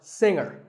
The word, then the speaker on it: singer: g is silent now we say finger we say the g younger again with the G but singer no G and what would you